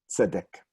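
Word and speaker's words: צדק: Tzedek. And notice again, one of those words with an echo vowel, same vowel in 2 syllables. So the first one is the stressed one, like Melech and my name.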